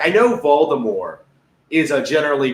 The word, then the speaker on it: Voldemort: because, like, I know Voldemort is generally pronounced incorrectly because of the movies, right? Because the movies were garbage that had no idea what they were doing. Voldemort, the T is silent, right?